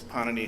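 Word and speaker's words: Pāṇini: Garian was of course panani himself and please notice the accent on the first syllable we're not talking Italian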